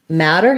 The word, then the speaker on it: matter: so matter and meter matter has the a black cat vowel so i would say trying to pair it with a word like that matters or um or has matter is going to help you with that and then for meter it